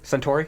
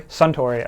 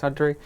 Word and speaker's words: Suntory: How do you say that? Centauri. Suntory. Okay. Suntory.